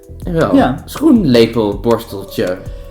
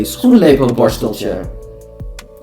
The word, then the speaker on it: schoenlepelborsteltje: SCHOenLePeLBORSTELTJE. SCHOenLePeLBORSTELTJE. And now we say it slowly, but a normal Dutch person would say SCHOenLePeLBORSTELTJE.